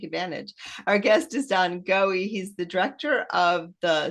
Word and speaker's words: Goewey: But our guest is Don Goewey. Did I say it right? Did I get it? Yep. No, I didn't. No, I didn't. I totally got it wrong. And you were being nice. Goey.